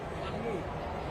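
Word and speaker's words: Mahmud: And then pronounce it for me. Mahmoud.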